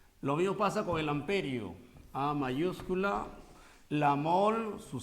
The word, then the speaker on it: amperio: en amperio en amperio aunque el nombre correcto de sant pere no del francés ampere en castellano se dice amperio si desean puede decir